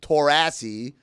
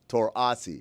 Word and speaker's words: Taurasi: Yes, you type it like that, and that way, even if she mispronounced it as Taurasi, that's still closer than. Give me an Taurasi. AH, then an SEE. There you go. Yeah, Taurasi.